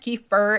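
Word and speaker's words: Kef Bir: It's pronounced Keith Burr.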